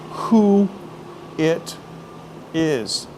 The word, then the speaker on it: Hooters: But in Massachusetts, they don't like to say, you know, the letter R. So I used to teach people the proper way to say Hooters in Boston is to say the words who it is. And just run them together.